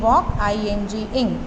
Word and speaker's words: walking: वॉकिंग, L is silent, WALK, walk, ING, walking down the road.